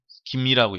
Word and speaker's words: 김: 그래서 우리나라 사람들은 이걸 성에 사용할 때는 김이라고 읽습니다. 그래서 우리가 김유신 할 때도 그때는 금유신이 아니라 김이라고 읽어야 됩니다.